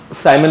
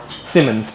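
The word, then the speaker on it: Siemens: साइंटिस्ट का नाम है एक्चुअली सीमंस है ठीक है सिमस साइमन नहीं है वो तो साइमन वाली स्पेलिंग मत यूज़ करना।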